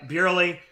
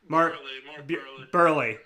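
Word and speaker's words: Buehrle: votes 8.6 mark uh burely all right what is that mark i'm saying it wrong burly yeah 23 votes 5.8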